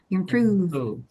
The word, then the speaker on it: Improve: Ya, jangan lupa ya, ini bukan F, tapi ini V. Jadi lower lip Anda yang berperan besar. Improve. Improve. Jangan improve. Gitu. Improve. Jangan terlalu mantep F-nya.